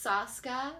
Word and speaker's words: Soska: It's Soska, like ayahuasca. Sauce is in boss.